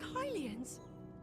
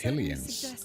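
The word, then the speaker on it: Hylians: And these figures look like Hilians. Hilians. I would have thought that was pronounced Helians. I've been saying it wrong all this time.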